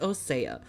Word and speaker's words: Osea: How do you think it would be pronounced? OC, right? You know how this fucking thing is pronounced? Osea.